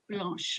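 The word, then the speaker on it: blanche: which is Blan blanch blch okay blch the E is kind of not pronounced but it depends like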